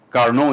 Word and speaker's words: Carnot: Carnot is the right pronunciation.